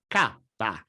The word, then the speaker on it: cappa: The Italian pronunciation of the symbol you see on your screen is: CAPPA.